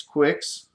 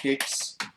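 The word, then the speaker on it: Qix: have three of these quicks Quicks whatever however you say that kicks I've heard it pronounced both ways Frogger which I had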